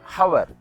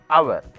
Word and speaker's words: hour: But in these sentences, the letter H is silent. It cannot be pronounced. We should not say it hour. It is hour.